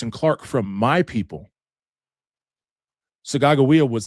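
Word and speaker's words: Sacagawea: Well, you probably heard of Sakajoua, right? Actually, her name is pronounced Sagawa, which is my language, which means birdwoman.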